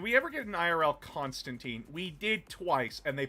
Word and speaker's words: Constantine: Constantine. John Constantine. His original creator says it's supposed to be Constantine. Yeah, I pronounced it's it's pronounced Constantine or Constantine based on your uh geol location.